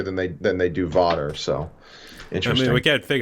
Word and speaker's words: Vater: just b-a-t-e-r yeah yeah it would be pronounced water in German okay interesting but don't